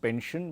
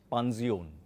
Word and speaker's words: Pension: And it’s not pronounced “Pension” but is pronounced “Panzion”.